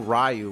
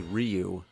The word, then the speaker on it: Ryu: like in Street Fighter we didn't know rayu was actually Ryu Blanca some people wait